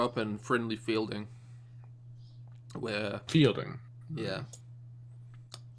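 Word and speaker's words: Feilding: I grew up in Friendly Fielding, where fielding. yeah, surprisingly spelt with the E and the I swapped around. Oh, that's fucking retarded. Oh, fuck off. That's fucking retarded. It's not pronounced any differently.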